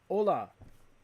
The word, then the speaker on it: hola: Hola. Hola. No, I know not to pronounce the H.